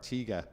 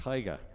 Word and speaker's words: Taiga: I was calling the older car a Tiga, but apparently it's a Taiga S79, so 1979 Taiga. So I had my pronunciation wrong. Like Tony the Tiger on a packet of Frosties.